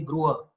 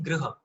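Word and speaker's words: गृह: Like they'll say Gruha, for example. Whereas Hindi speakers end up saying Griha, which is actually not it's actually Gruha, right?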